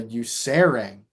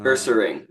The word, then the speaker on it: Ursaring: While walking through the forest, he encountered a Usaring. Uh, Ursaring, Ursaring.